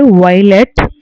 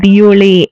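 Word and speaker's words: violet: ஸோ அடுத்து வந்துட்டு வயலட், வயலட்டுக்கு வந்து வியோலே அப்படி சொல்லணும், வியோலே. எப்பவுமே லாஸ்ட் வேர்டை வந்து எதுலேயுமே ப்ரொனவுன்ஸ் பண்ண மாட்டாங்க ஃப்ரெஞ்ச் பொறுத்த வரையும்.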